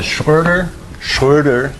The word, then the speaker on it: Schröder: It's called the Schröder, spoken in close to approximately correct German pronunciation, Bernstein theorem.